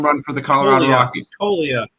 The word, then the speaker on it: Toglia: Toglia, with a silent G.